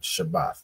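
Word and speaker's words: שבת: AA and a right so it's pronounced shabbath right shabbath not not um not Shabbat Shabbat in the Hebrew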